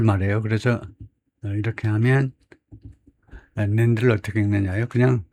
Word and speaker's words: NAND: 그래서 이렇게 하면 NAND를 어떻게 읽느냐요? 그냥 how do you read NAND 해도 되겠지만은 NAND라고 읽네요.